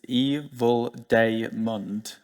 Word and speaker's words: evildaemond: This is me, this is how you pronounce my handle. This is a fight that I've had ongoing. It's evildaemond.